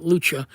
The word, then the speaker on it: Lucha: not the real but the the original uh Lucia Lucha that's how you pronounce it Lucha the original Lucha um 5150 is in titanium this is the